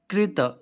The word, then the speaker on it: कृत: दोनों में अंतर है रा के उच्चारण में भी विशेष ध्यान देना चाहिए कि क रा है कहां री है पृथ्वी में भी एक रा होता है है ना और एक ग्रह में भी रा होता है तो रा और री दोनों में अंतर समझना है कि कौन सा रा है कौन सी ऋ है है ना तो उसका उच्चारण कहां कैसे करना यह भी ध्यान रखना है यहां पर कृत नहीं